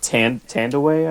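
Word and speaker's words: Thandiwe: it's not Tandy Newton anymore. It's Tawande or something. Tawandi. Is it? Yeah. I know. She Yeah, changed the spelling. she- I didn't know if it phonetically changed. Yeah, as well. it's phonetically different. Oh, okay. Tandaway, I think.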